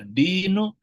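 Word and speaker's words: دِين: dain itu satu huruf, urutan hurufnya sama, bedanya yang satu dibaca dinu, yang satu dibacanya dainun. Dain itu artinya utang yang harus dibayar, kemudian din itu agama.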